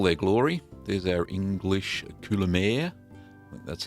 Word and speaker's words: Coulommiers: are in all their Glory there's our English kulir that's how you pronounce it correctly I don't think I got